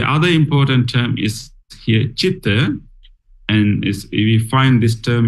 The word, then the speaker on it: citta: mind in Pali is citta. Although it is letter C, it doesn't pronounce as K, like a cake. It's pronounced as ch, as in chair.